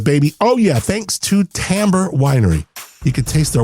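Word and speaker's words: Timbre: Tamber t i m r e. And yes, that's how you say it. And they're not going to call you out for saying timber, but t i mb r e.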